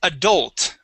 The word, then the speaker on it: adult: um first up is adult with the stress at the end of the word adult adult good now